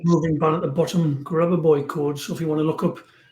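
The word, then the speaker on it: Grabovoi: Grabavoy. Can you spell that, please?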